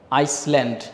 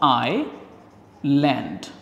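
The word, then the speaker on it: island: হবে কিন্তু এটার উচ্চারণটা আমরা অনেকে ভুল করে এই সটা উচ্চারণ করি যেখানে আমরা করবো না আমরা নরমালি বলব আই ল্যান্ড আমরা কি বলব আইল্যান্ড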